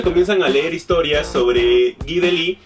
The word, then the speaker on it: Guy Delisle: Sí, se pronuncia Guy Delisle, el cual tuve la fortuna de conocer, que